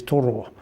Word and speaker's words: Toro: But we did have a pronunciation session at the end regarding, as you know, Tor and Raw, and that's said quickly as Toro, which is the name of the co-chair of the planning committee.